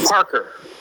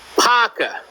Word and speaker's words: Parker: that as disrespect H Parker I just pronounced your name properly and somebody in New Jersey calls you hey Paka are you gonna give